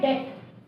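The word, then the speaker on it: debt: Similarly word है डेट, knife, तो knife में के साइलेंट है, डेट में बी साइलेंट है।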